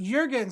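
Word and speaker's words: Jürgen: And he said it's pronounced Jurgen, so hopefully I'm saying it right now.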